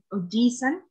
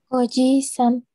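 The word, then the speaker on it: おじいさん: Y pasa lo mismo en Ojisan. Exacto. Es la I la que le dedicamos un espacio más de pronunciación respecto a la normalidad.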